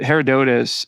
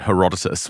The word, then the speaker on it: Herodotus: I don't think Plato was saying well herodot Herodotus uh thinks the pillars are somewhere other than